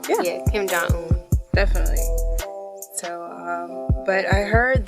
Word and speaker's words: Kim Jong-un: Kim Jong-un? Yeah, Kim Jong-un.